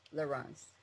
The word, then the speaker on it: Laurens: french pronunciation loren and his is the dutch pronunciation laurens lorenz we would also like